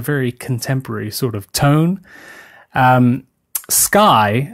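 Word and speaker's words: Skye: contemporary sort of tone sky as in s KY e is one of those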